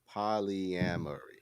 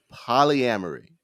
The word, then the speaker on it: polyamory: Okay, we're talking about Willow Smith, Red Table Talk, and how many syllables is it? Polyamory. It's 5 syllables. Polyamory.